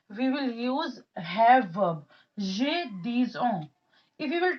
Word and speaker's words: j'ai: We'll pronounce it j'ai.